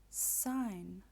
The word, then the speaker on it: sign: fine and fee sign we do not pronounce the G sign I had to sign